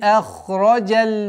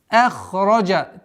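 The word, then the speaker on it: أَخْرَجَ: Валлади ахраджаль мар'а. С огласовки фатха уходим на лям. Удваиваем. Зи. Здесь удлинение в размере четырех огласовок касры. Валлади ахраджа. Твердое произношение ха, и звуков ха и ра. Ахраджа. Ахраджа. Согласовки фатха уходим на лям.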